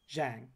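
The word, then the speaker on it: 象: composed compound character is the morpheme for elephant pronounced zhang so those two characters are put together to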